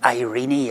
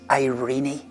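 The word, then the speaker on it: eirene: There's a Greek word that I'm reliably informed is spelled E-I-R-E-N-E. I suppose it's pronounced Irene or Irene.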